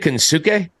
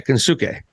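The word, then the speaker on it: Konosuke: okay is part of me is it a kinsuke yeah k-o-n-o-s-u-k-e yeah kinsuke hey look I covered G1 for uh for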